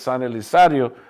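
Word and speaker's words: San Elizario: Today it's pronounced as San Elisario today.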